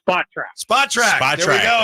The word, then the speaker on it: Spotrac: And it's Spotrac.